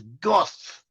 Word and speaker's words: Gad: Gad, the tribe of Gad. The name Gad can be pronounced as Goth in Hebrew.